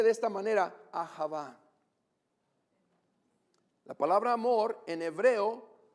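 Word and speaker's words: אהבה: de la palabra amor en el hebreo se pronuncia de esta manera a java la palabra amor en hebreo se dice a java qué significa atención y afecto que una persona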